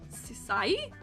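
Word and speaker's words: Syiec: S Y I E C Sai.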